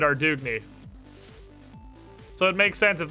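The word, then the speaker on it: Ardougne: can figure it out there's a voice acting quest in runescape three that pronounces it arduiny well if it's fantasy france and the the npc and runescape 3 isn't from arduiny that's also how i would pronounce it because i am an american and i speak burger and if you translate that into burger you get our doughny so it makes sense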